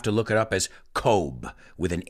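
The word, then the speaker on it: Cobh: map you'll have to look it up as kobe with an h at the end kobe in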